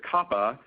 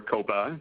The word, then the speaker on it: COPPA: Now, the second law that you see here, COPPA, or COPA, depending on how you want to pronounce it, is the Children's Online Protection Act.